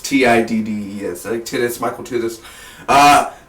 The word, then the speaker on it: Tiddes: And the director, I believe his name is Michael Titus. The T is silent. It's Tiddes.